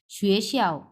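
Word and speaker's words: 学校: চার number tone হ্যাঁ শুয়েটা দুই নাম্বার টোন শিয়াওটা হচ্ছে চার নাম্বার টোন সো শুয়ে শিয়াও শুয়ে শিয়া মানে স্কুল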